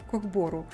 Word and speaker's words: Кок-бору: кок бору кок бору да правильно ударение надо поставить код бору вот это очень популярная